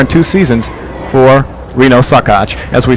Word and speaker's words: Saccoccia: talked about Reno sakach it's spelled sa a cc o CC I a but pronounced sakach in his second season